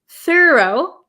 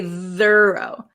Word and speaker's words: thorough: thorough thorough okay though though has a vocalized th though and thorough does not we don't say thorough thorough thorough okay oh this is